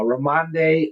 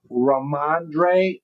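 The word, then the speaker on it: Rhamondre: Uh uh Ramande Ram Stevenson. Did I say it right? Let's see. Raandre.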